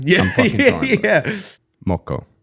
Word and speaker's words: moko: Moko. Yeah, perfect. Nailed it.